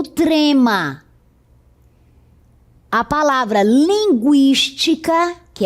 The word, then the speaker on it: linguística: E agora todas essas palavras são escritas desta forma, sem o trema, 50, linguística, consequência, frequência, tranquilo. Note que a pronúncia continua sendo a mesma com o u.